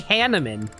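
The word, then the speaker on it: Hanneman: with hanaman or hanaman God I keep on saying his name wrong it's supposed to be hanaman Maran and hanaman of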